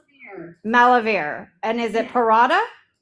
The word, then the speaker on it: Parada: And is it paratha? Yeah. Malive verda. I I butchered it in the intro and I I